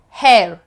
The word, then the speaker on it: hair: If you are a citizen of one of those European countries or those countries which do not pronounce H, you can change the meaning of the word if you're saying something. For example, I could feel your hair. This means hair. But if you don't pronounce H, I could feel your air.